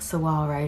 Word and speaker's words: Saguaro: Now that I know it's actually pronounced Saguaro, so apologies.